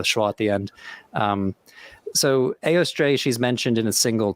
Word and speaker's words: Eostre: It seems that it's Eostre. Yeah, at least as in it's the same vowel that we get in Beowulf or Theoden in Lord of the Rings. So you have Eostre, could have been Eostra with a schwa at the end.